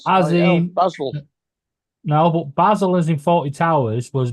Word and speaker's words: Basil: Donald you've watched Faulty Towers you know it's pronounced Basel Basel name the name of course is definitely